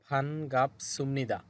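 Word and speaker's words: 반갑습니다: এরপরে ওই ব্যক্তি বলতেছে মান্না স দেখা হওয়ায় ফান গাপ সুমনিদা। সুমনিদা কেন হবে? এই বিউব বা সিমের পর সামনে নিউন আছে, এই জন্য বিউবটা এখানে ম হবে। তো উচ্চারণ হবে ফান গাপ সুমনিদা।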